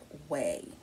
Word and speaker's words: OUAI: discuss fragrances by the house of way now it's not spelled w-a-y it is spelled o u a i this is the container